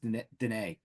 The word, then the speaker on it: Dunnett: It's actually pronounced Dene.